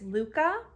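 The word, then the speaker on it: Lykke: of interchangeable needles they are the uh you pronounce this Luca and they are a set of wooden interchangeable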